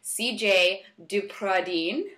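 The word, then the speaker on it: Cijaye DePradine: today I'm really excited to introduce to you CJ dupradine I pronounce that right yes that's pretty yes she's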